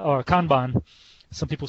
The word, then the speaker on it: Kanban: And also Kanban, or Kanban, some people say Kanban, but the right pronunciation is Kanban, is that is an add-on on top of what you can do with Scrum.